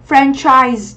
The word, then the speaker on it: franchise: Ở đây con thấy CH này này, chúng ta đọc là âm ch. Đấy, từ này của chúng ta có nghĩa là nhượng quyền, đúng không? Mình đọc là gì nhỉ? Franchise, đúng không ạ?